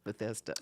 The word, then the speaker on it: Bethesda: Maryland right uhhuh it's Bethesda that's how you pronounce it Bethesda bethesa bethesa last year and this year the